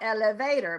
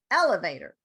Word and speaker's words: elevator: fit into the elevator not elevator but elevator elevator okay do it again the